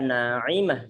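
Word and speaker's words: ناعمة: Kalau dari Al-Quran, maka tidak ada kata-kata dalam Al-Quran, yaitu na'imah tidak ada. Yang ada adalah na'imah dengan huruf ain.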